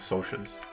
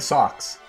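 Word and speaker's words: Socs: in the book like they spell it S O C S S. So like socks, but then immediately after in brackets it says pronounced SOAS.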